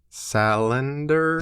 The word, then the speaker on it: Salander: your last name when you speak English uh salender Victor Salander yeah I looked it up some time ago